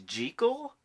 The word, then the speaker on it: Jekyll: You know that the proper pronunciation is Jekyll? That's what the author of the novel insisted, Robert Louis Stevenson, but only the first